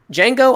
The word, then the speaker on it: Django: to our next one Django Unchained or de Django cuz but the D is silent so alright Ryan Django